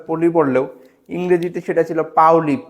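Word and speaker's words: Pauli: পলি আমরা বাংলায় উচ্চারণে আসলে পলি পড়লেও ইংরেজিতে সেটা ছিল পাওলি।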